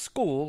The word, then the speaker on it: Skule: spelling ever, S-K-U-L-E, and it's pronounced school, like kids go to school.